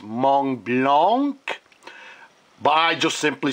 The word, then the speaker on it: Montblanc: I know it should be pronounced Montblanc, but I just simply say Montblanc.